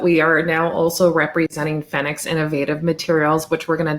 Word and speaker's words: FENIX: including the fact that it is pronounced fennecs yeah yeah absolutely so